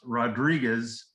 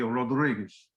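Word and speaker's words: Rodrigues: rodriguez the portuguese pronounced rodriguez r rodriguez d r i g u e s wherever you see a z in spanish gomez is gomes in portuguese sanchez would be science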